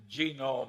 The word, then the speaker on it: Genome: mentioned that one book genome i have a hell of a time putting the accent on the first syllable but that is a